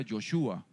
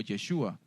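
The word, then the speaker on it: יהושע: ¿Sabe usted que el nombre Josué en hebreo se pronuncia Yoshua o Yeshua?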